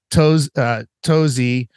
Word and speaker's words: Touzi: And then the company is spelled Touzi, which is TOUZI.